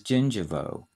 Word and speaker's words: gingivo: gums the word part for the gums is gingivo g i n g iv after the mouth